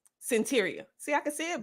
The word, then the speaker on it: Cyntiria: The pronunciation of the name is Cyntiria. Cyntiria.